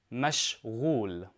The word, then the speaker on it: مشغول: Now, to say busy, I say mashghul. Mashghul. And this is for a man. Now, make sure you pronounce the ghain correctly. Ghain is a throat letter in Arabic.